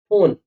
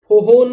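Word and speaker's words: phone: हमारा ऐसा ठीक है तो पीएच जब भी साथ में आता है ना तो ये पी एच जो है ये एफ का साउंड देता है ये कैसा साउंड देता है ये एप का साउंड देता है ए का साउंड कैसा देगा जैसे पैराग्राफ फोटोग्राफर फ फ ले रहे हैं ठीक है फोन आप लोग कभी देखा फन नहीं बोलते फोन बोलते हो फोन ऐसे ही बोलते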